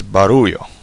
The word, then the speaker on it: barullo: Okay, and the last word is barullo. Barullo. Yeah, don't roll your R. It's just one R.